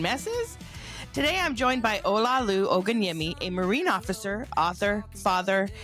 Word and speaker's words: Olaolu Ogunyemi: I'm here with Olaolu Ogunyemi.